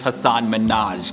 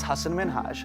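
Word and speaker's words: Hasan Minhaj: blazing a whole new type of trail is hassan minaj everyone that says your name says hassan minaj yeah but the real way you pronounce it it's hassan minhaj hasan minaj is a comedian writer producer actor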